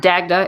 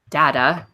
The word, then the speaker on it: Dagda: one is it's actually it's not Dagda its data don't produce a ji-hae